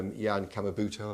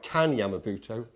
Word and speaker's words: Kan Yamamoto: So we've asked people about their memories of Tim Skelly, who did Star Castle and Warrior, or Jan Kamabuto, I pronounced that right. Kan Yamamoto.